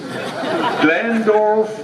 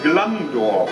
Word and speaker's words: Glandorf: is not german so the g in low german is like in the dutch language pronounced like a ch and now we practice